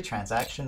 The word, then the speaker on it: transaction: 그래서 TR 발음 이거 칫 소리 나는 거 ch-ch-ch.